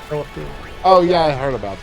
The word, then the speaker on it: Penelope: Penelope. Panoopapoo. You know that Mom can't say Panoopapoo? Penelope.